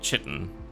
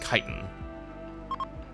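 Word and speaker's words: chitin: Yeah, like chitten, which is apparently pronounced kitan.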